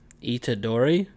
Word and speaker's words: Itadori: Itadori?